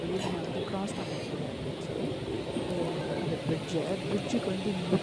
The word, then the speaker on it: Paris: நம்ம ஊரு பீச் மாதிரி இது வந்து இது வந்து பரி பிளாஸ்ன்னு சொல்லுவாங்க பரி பாரிஸ் வந்து பாரிஸ் என்றத பிரஞ்ச்ல சொல்றது வந்து பரி ஏன்னா கடைசில இருக்க எஸ் வந்து எப்போதுமே உச்சரிக்க மாட்டாங்க சின்ன சோ இந்த ரோட்ல